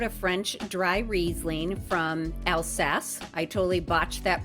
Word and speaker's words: Alsace: I tried out a French dry Riesling from Alsace. I totally botched that pronunciation during the actual episode, so had to correct it here.